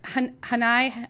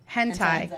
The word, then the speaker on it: hentai: Hanai? How do you say? Hentai.